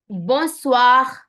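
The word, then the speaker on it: bonsoir: हॉलिडज़ I will repeat once more born bogus ब स्वा ब स्वा हैप्पी गुड इवनिंग इसको बोलते हैं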